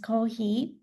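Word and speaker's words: コーヒー: this thing like coffee and co coffee is pronounced cohi just like engineer engineer.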